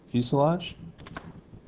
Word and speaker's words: fuselage: we want to save this as lab 9 fuselage fuselage is spelled fuse Lage and that's it for that